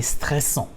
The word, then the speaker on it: stressant: 42 will be c'est stressant. C'est stressant means it's stressful. Voilà. C'est stressant. C'est stressant. Voilà. It's stressful. C'est stressant. Nasal sound again. C'est stressant. Voilà. The NT is not pronounced.